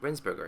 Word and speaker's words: Rensberger: rinse rinse burger is a visit did I pronounce that right yes that's right yes hello